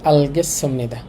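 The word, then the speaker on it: 알겠습니다: লেখা আছে আলগেসুমনিদা, উচ্চারণটা হবে এইরকম। আল এই শিও তার সাংসদ মিলে চয়সর মতো হয়ে যায়।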